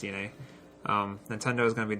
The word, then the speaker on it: DeNA: So it's pronounced DNA.